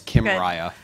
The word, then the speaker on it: Kymriah: It's as if Kim Kardashian and Mariah Carey got married. Okay. So it's Kymriah.